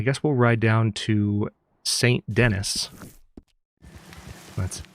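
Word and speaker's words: Saint Denis: Let's now I guess we'll ride down to St. Dennis. That's how it's pronounced.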